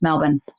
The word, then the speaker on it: Melbourne: Australia which you Americans it's not Melbourne it's not you're in melbour melin melbour even though it's spelled there's no R there is it's b o u r n e so Americans like Melbourne I was like that's